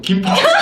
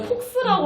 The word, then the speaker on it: 김폭수: 김폭수. 예, 별명 김폭수합니다. 아, 너무 잘 발음을 어울려요. 네. 좀 잘해주셔야 돼요. 폭스라고 하면 오해하실 수도 있으니까. 김폭수. 여러분 네. 폭스 아니고 폭수거든요.